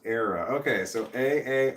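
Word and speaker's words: Aara: what's a dog and my name is pronounced era okay so a a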